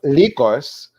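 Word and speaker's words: Lykos: in greek so um likos that's how you pronounce her last name in greek lycos means wolf and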